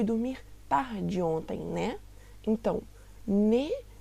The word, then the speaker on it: né: Então, ne em italiano tem essa pronúncia do E muito fechada, ne, enquanto no português fica nem.